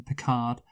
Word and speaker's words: Picard: want to make Captain Picard Captain Dick Hard," and I was like, Yes. "Oh yeah," and that would be my porn star surname, Picard. Because here's the thing, it rhymes with Dick Hard, but Pick Hard also